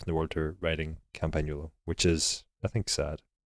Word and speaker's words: Campagnolo: Yeah, you don't say the G in the actual word, so or you say it differently.